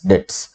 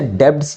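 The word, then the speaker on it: debts: Unable to पे हिज डेट्स। देखो इसे डेब्ट्स नहीं बोलते, बी साइलेंट होता है, डेट्स बोलते हैं।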